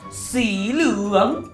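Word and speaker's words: สีเหลือง: Dalam bahasa Thailand, dibaca sebagai siluang.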